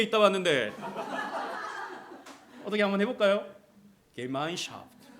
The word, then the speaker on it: Gemeinschaft: 우리 박은정 성도님 독일어 잘하시는데 제가 한번 이거 어떻게 발음하는지 좀 읽어보라고 말씀드릴까도 했는데 어떻게 발음하죠 이거? 박수 한번 하겠습니다. 우리 주영이 6개월 독일에 있다 왔는데 어떻게 한번 해볼까요? Gemeinschaft.